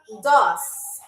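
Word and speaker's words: дос: So, our last word or phrase is pronounced doss. Doss.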